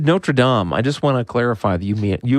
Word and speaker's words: Notre Dame: So you said so you said Notradam.